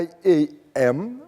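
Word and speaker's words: I'AM: trompe dans la prononciation Iam ou I A I A M Créer I Créer I Iam Iam d'accord parce que ça s'écrit I A apostrophe M c'est pour ça.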